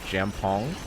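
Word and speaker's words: jjamppong: another dish called uh Jam pong it's pronounced like jam pong okay insane say that's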